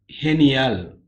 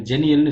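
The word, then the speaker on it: genial: ஹெனியால். ஹெனியால். ஜீய வந்து ஹே. அதான் ஹெனியல். ஜெனியல்னு சொல்லக்கூடாது. ஹெனியால்.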